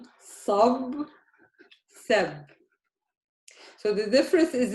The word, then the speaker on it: صب: صب, سب. So the difference is in the a, the fatha. Both have a fatha. Here I say the fatha as a. Here I say the fatha as a. صب سب.